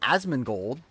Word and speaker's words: Asmongold: I'm not Asmongold.